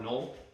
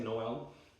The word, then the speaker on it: Noel: with the next sibling, Noel, French name actually. Noel or null, I guess kind of pronounced null, kind of dumb pronounce. So I say Noel.